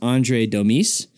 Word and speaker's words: Andre Domis: His name is Andre Domis, and that's how you say it. Surprisingly, I thought it was Domis, but it's Domis. Sounds French.